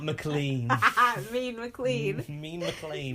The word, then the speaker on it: McLean: Mean McLean. Mean McLean. But mean doesn't rhyme with McLean.